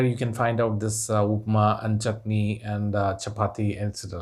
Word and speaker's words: upma: But it is there in the dictionary, and it is pronounced as upma or upumavu.